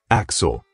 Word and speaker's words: AXL: We're introduced to AXL, pronounced Axel, in a helpful, introductory computer simulation / marketing slideshow.